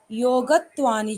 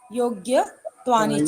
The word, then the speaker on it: योग्यत्वानि: सत्व, शुद्धि, सौमनस्य, एकाग्रेन्द्रिय जय, आत्मदर्शन, योगत्वानि च। यहाँ पे जो है ना योगत्वानि च ने कही कि योग्य, योग्य, योग्यत्वानि च। योग्यत्वानि च, यस, आधा गा है, पूरा प्रोनाउंसिएशन नहीं देंगे, ठीक है?